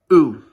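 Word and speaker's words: août: of the month August, which is pronounced like this. It's pronounced as OU. And, well, good thing I took some French classes in high school, eh? But it's actually that's actually pronounced as OU, and it's missing, I believe, what's called an accent aigu.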